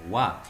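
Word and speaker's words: は: diciendo que es particular no estoy pronunciando como halo estoy promocionando como ua por qué porque en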